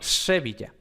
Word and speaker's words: Sevilla: esto no de que en algunas partes de españa no se dice sevilla sino sevilla luego también hemos dicho en